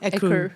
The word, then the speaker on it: Écru: How do you pronounce it? Écru? Écru.